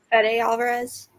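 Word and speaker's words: Fede Álvarez: Is it Fade or Fede Alvarez? Fede Alvarez.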